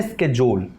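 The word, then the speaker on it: schedule: Correct pronunciation जो है American में स्केड्यूल, ब्रिटिश में शेड्यूल, तीसरा कुछ भी नहीं है।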